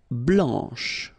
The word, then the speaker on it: blanc: Blanc, blanche, okay, so I wanted to put for each color the masculine form here and then the feminine form here, okay, so here, masculine, blanc, don't pronounce the final C, and then blanche.